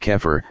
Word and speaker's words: Xeper: Aquino coined the word Xeper (pronounced keffer) to mean the process of evolving a higher consciousness.